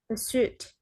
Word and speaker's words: pursuit: Pursuit. Okay, we don't say suit or suit or something like that. Just pursuit.